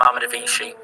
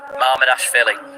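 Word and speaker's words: Mamardashvili: the half-decent opportunity for Yokohama, half-decent save from Marmadavici. Some people aren't happy with the Marmadavici pronunciation.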